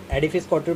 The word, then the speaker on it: Edifice Couture: हाँ, थोड़ा सा हो जाता है, पर this is pronounce as एडिफाइस काउंटर private limited.